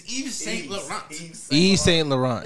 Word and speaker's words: Yves Saint Laurent: It's Yves Saint Laurent.